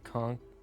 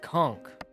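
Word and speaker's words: conch: Americans say conk. Conk is cock. Brits and Canadians say it with the H sound. No. That's like saying chameleon. It's a k. You don't pronounce it chameleon, pronounce it chameleon. It's conk. I love Captain.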